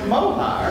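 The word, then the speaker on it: מוהר: bad accent because of course the word is mohar it's pronounced mohar and it is a word that is in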